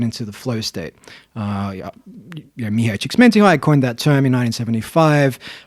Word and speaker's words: Csikszentmihalyi: Mihai Csikszentmihalyi coined that term in 1975. That was a good pronunciation as well. Hey, Yeah, you said it really quickly. It's my Eastern European heritage. Say it again. Mihai Csikszentmihalyi.